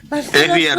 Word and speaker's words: Swier: Sweyer. Esbier se pronuncia.